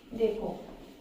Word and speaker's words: the: डा और दी को हम कहां बोलते हैं देखो इसमें भी गेम है बहुत अच्छा एप्पल